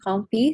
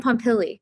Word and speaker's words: Pompili: It's from Dan Pompey. Sorry if I don't pronounce that right. But wait, Dan Pompili? Is it Dan? yes, Dan Pompili.